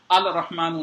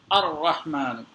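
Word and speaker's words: الرحمن: कर मनरी अ रहमान अल रहमान नहीं है अ रहमान वैसे ही अ रहमान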